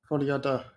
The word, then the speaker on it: Folie à deux: I don't even know how I'm going to pronounce this, but Folie à deux? Is that okay? Is that you pronounce it? Folie à deux, yeah.